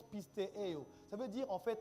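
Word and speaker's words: πιστεύω: Ça se prononce pistéo.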